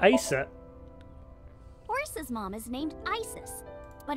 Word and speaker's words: Aset: horse's mom is named Isis but in ancient Egyptian it's pronounced closer to ISA or aset oh H how do